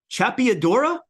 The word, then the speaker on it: La Chapeadora: It's called Chapiadora. Am I pronouncing that right?